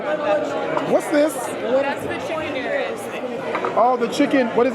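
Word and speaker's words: arayes: That's the chicken Ares. Oh, the chicken. What is it? How you pronounce it? Ares. Ares, yeah, that's it.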